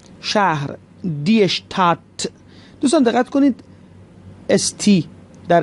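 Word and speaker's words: Stadt: کنید اشتراس و شهر اشتات، اون دی هم تقریبا تلفظ نمیشه، اشتات، اشتات، شهر، دی اشتات.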